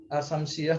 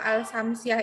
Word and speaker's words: al-Syamsiyah: Ya, kalau al-samsiah itu alnya nggak kelihatan Bu bacanya. Kalau al-qamariyah alnya lamnya ada Bu, ketok gitu Bu.